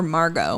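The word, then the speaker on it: Margaux: right Megan right or Margot my sister my cousin's name is Margo m-a-r-g-a-u-x okay I don't know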